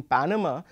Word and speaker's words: Panama: or the third syllables similarly in Panama we are going to be slightly louder on the first syllable as opposed to the second and the third syllable now this is basically